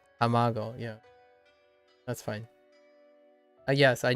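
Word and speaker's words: たまご: how tamago I I I think I said tomago again tamago yeah that's fine yes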